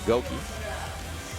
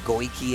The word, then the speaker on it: Goki: We got to give a shout out to Goki. His proper name. I always say it wrong. I used to be like Goiki and everything.